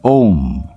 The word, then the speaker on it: Om: name of this word how can we pronounce it as the mystics will tell you the name of the word is om it is the original